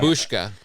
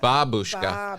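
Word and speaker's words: бабушка: So you have to have a lot of ba. Babushka. Babushka. What's the wrong way? Здравствуйте. Babushka. Oh, they're doing bo.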